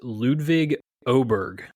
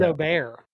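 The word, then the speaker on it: Ludvig Åberg: It is technically pronounced Ludwig Oberg. See, I thought it was Aubert. The way this is reading, it's Oberg.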